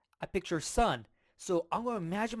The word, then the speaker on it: 四: 四 And so it's like su, su, su. So for me, I think of suit, suit.